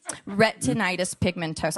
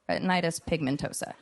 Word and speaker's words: Retinitis pigmentosa: Retinitis pigmentosa. I know it sounds like a Harry Potter spell. Retinitis pigmentosa.